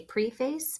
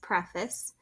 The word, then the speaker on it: preface: is preface you know it looks like we would say preface but it's actually pronounced preface so this is actually